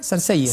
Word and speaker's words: Sarcelles: ¿Cómo se pronuncia? Sarcelles.